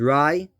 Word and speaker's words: Rai: named i think the next name is rai r-a-i is how you pronounce it it could be the